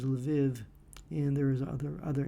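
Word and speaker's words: Lviv: So you had areas of western Ukraine uh which now has this the city of Lev or the the uh Ukrainian pronunciation of it is Leviv and there is other other areas that um there the language is related to Russian.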